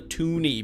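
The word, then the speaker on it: toonie: then the $2 coins called the Toni because it's $2 and it rhymes with uh Looney I guess yeah uh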